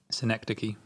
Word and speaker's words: Synecdoche: And again, this is sometimes I get a bit of this from the interviews, where, for example, how do you pronounce it again? New York? Synecdoche, New York.